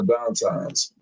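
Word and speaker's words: Dantas: Lexi dumps it out to, was it Downtimes? That's how you say her name? Yeah, Downtimes.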